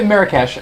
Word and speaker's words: Marrakech: Is that how you pronounce that? Marrakech.